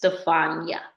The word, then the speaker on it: Stefania: So depending on where you're from, is determine how it's pronounced, but it is Stefania.